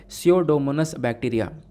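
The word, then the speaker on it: Pseudomonas: उस बैक्टीरिया का नाम है स्यूडोमोनास बैक्टीरिया। ये स्पेलिंग आपको देखने को मिल जाएगी, पी साइलेंट है।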